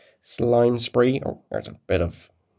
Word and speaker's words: Slime Spree: yeah my name is slime spree oh it rhymes with crime spree and that's what the